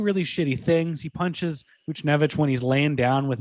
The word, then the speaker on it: Buchnevich: I say Buchnevich. Buchnevich, yeah.